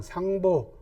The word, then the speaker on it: 상보: 무응왕, 촉상, 상보. 상보는 이제 유선이 제갈량을 부르던 존칭입니다. 재상 아버지, 그죠? 이럴 땐 보라고 읽습니다.